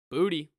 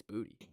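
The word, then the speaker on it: Boutte: at LSU wide receiver booty it's how you pronounce it it's not bootay it's booty and uh so booty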